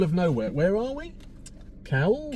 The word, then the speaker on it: Cowell: Cowell? Cowell, yeah. Not Simon Cowell, but it's spelt the same.